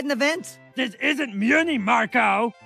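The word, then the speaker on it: Mewni: wear a cape look I'm sure everybody on Moony wore a cape Muni it's pronounced Muni Marco I'm just trying to help and I'm just trying to help you properly say Muni plus aunt Hasan's it's pronounced plus Sun hey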